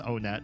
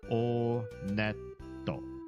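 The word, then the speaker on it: Onett: It is pronounced Onet. I did check the Japanese pronunciation. And in Japanese, when you go to this first town, they pronounce it Oneto.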